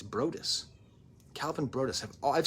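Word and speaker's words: Broadus: I always thought his name was Brodeus, but it turns out I've been reading his name wrong. It's Brodus.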